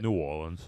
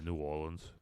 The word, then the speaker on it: New Orleans: New Orleans. New Orleans? Yeah, New Orleans.